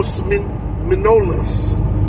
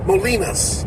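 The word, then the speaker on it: Molinos: going in the Lo manolas Los manolas am I pronouncing it right molinas molinas I stand corrected I heard you somebody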